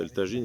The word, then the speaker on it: Tajín: le site de Elin qu'on peut prononcer elagine si on prononce pas le J à la mode espagnool et Elin c'est une